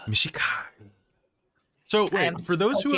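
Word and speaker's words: Mishakal: It's pronounced Mishikal. Mishikal.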